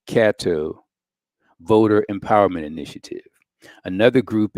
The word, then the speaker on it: Catto: Monday's event include among others the o v Cato c-a-t-t-o the o v Kato voter empowerment initiative another group is the Caddo